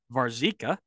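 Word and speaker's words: Warzycha: Brian White Robert as I've now learned to pronounce it varzika Jeff Cunningham and Brian McBride and they found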